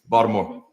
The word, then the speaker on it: Baltimore: north of Baltimore okay Baltimore Bal more you got to say it you be more um and say so